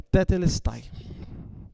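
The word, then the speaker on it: τετέλεσται: A palavra usada aqui no original pelo apóstolo João é Tetelestai. Não sei se a pronúncia é essa mesmo. É isso, pastor? É Tetelesti.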